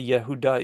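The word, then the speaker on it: יהודה: say Jews you know the term Jew is is really um the idea of Yehuda uh want to say Yehuda is is the the Hebrew you know name pronunciation for or yahudim in the plural um and so that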